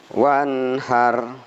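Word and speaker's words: وانحر: Wanhar, ada alif nun mati ha, dibacanya terang karena ini idhar.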